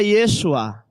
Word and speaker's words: Yeshua: vogal só tem consoante o mesmo nome Jesus se pronuncia Yeshua Josué também se pronuncia